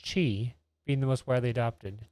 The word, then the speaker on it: Qi: for wireless charging with Qi pronounced Chi being the most widely